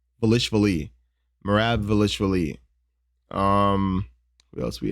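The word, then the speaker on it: Dvalishvili: How do you pronounce his name? Velishvili.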